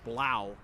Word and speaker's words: Blau: move looks like alex blow behind uh tries to hit blow but is unable to do so taylor crawford comes away with a quaffle that would be blau the pronunciation guide had me confused for a moment there